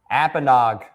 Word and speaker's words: Apponaug: Apenog. Thank you for uh making sure I had the right pronunciate pronunciation there.